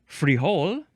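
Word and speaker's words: frijole: Or you can also take off the e at the end and just say freehole uh or freehole. Emphasize either one.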